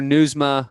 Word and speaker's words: Nieusma: It's Dr. Nieusma. I said it wrong at the beginning, but it is Dr. Nieusma.